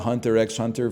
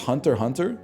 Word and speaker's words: Hunter x Hunter: I've been calling it Hunter x Hunter for years, man. It's pronounced Hunter Hunter? Well, then what's the X doing there? Why would they put the X there if they didn't want it to be said?